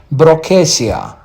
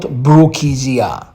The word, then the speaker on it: Brookesia: generic names so uh the first genus is called brasia not brookesia second is Pon not palean